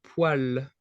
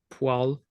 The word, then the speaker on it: poêle: Well, the spelling is very, very special. Poil is kind of this word that has a specific spelling, and it just doesn't look like anything like how it's pronounced. Poil. It's the same pronunciation as this this other word in French, which is poil.